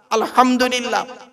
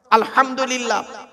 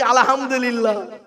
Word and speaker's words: আলহামদুলিল্লাহ: ফাতিহা পড়তে গিয়ে আলহামদুলিল্লাহ আলহামদুলিল্লাহ এ গলার ভেতর থেকে হে এটা উচ্চারণ করবেন হায় হুটি হায় হাবজ নয় আলহামদুলিল্লাহ মানে হচ্ছে সমস্ত প্রশংসা আল্লাহ তোমার আর আমরা উচ্চারণ করি কি আলহামদুলিল্লাহ এর মানে শুনবেন সমস্ত